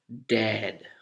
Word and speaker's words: dead: vertically like this dad and then you have dead dead somebody has died he is dead d-e-a-d and you open your mouth when you form the vowel horizontally okay dead dead dead